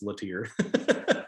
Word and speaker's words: Lattier: And when I was in the UK, everybody just defaulted to Lattier, and it was fine. But I'm from North Carolina, so it's Lattier.